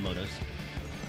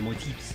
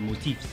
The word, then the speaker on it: motif: do anything with the motives. The motifs, sorry, the motifs, you gotta say it right.